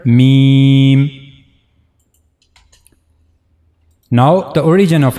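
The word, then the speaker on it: م: Me try to read it accordingly. Meme. The dry part of two lips will connect to one another. This is the dry part of the lower lip. And then the dry part of the upper lip mean.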